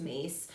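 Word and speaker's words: Myss: There is an excellent book, Carroll Mace, it's spelled M-Y-S-S is her last name, but pronounced Mace, Anatomy of the Spirit.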